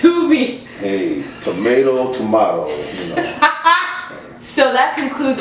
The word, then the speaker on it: Tubi: It's pronounced Tubi.